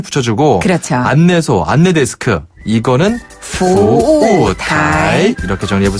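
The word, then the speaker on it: 服务台: 그 다음에 타이는 대만 할 때, 타이완 할 때 그 타이랑 발음이 네. 똑같아요.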